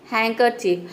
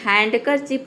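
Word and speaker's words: handkerchief: होता है हैंडसम देखिए नेक्स्ट वर्ड है हैंकर चिप हैंकर चिप यहां पे देखिए हैंड करर चिप नहीं होता है यहां पे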